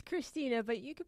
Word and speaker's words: Krisztina: It's Krisztina, but you can pronounce Z if you want.